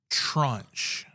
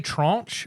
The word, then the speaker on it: tranche: Trunch. You ever heard of? You have to spell that one.